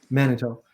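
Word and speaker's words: Manteo: How do you pronounce that? Manitoque. Manitoque, on the Outer Banks there.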